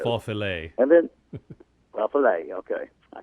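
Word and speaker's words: Faufiler: Khaleesi, and Fossilire. Fossilire, I can't pronounce that horse, F-A-U-F-I-L-E-R. I think they call it Faux Filet.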